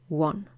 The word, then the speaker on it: one: let's start with o think of the word one which are the words sounds like one that's right one in the past tense of win the sound were is usually spelled with the letter w and it is not a vowel sound it is what we call a semi-vowel sound and before a semi-vowel